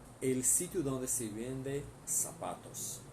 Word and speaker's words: zapatos: Então, sapatos, se escreve zapatos, mas se lê sapatos.